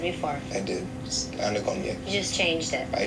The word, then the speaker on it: Anagonye: Got the name wrong. Agano, Komongo. Anagonye. Say it again? Anagonye. No, say what you said before. I did. Anagonye.